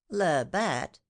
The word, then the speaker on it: Labat: Labat.